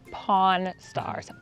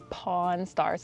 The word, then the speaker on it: Pawn Stars: 근데 한국 사람들 이거 발음할 때 굉장히 조심하셔야 돼요. 이게 간혹 위키피디아 같은 데 가면은 폰스타스 이렇게 쓰여 있는데 그렇게 얘기하면은 Porn Stars, 포르노 배우가 돼버리니까 Pawn Stars라고 해야 돼요.